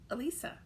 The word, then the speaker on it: Elisa: going you're almost there so it's uh lisa so you start to go hmm what's her name uh ah elisa so that is how prince how you pronounce it and don't hesitate um